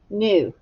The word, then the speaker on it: knew: a new bike but if you put the k on there it it respond it correlates to something that you knew up in your mind so let's figure out how we would map it uh echo me new tap it out new e i did that wrong elbows up new new all right here we go do you hear the k no but you do